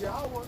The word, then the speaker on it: Yahweh: But in his purest, in pure form, the Father's name is Yahweh and his Son's name is Yahweh Shai. That's in the purest form of Hebrew. And that's the true pronunciation of the names of the Father and the Son.